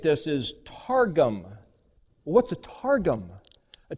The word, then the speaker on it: targum: It's that same word, but if you know how to pronunciate this, is targum.